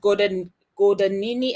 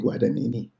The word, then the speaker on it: Guadagnini: I read it Gordonini, and you pronounce it differently to me. So how do you pronounce it? Oh, I may be wrong, but the way I say it is I take Guadagnini.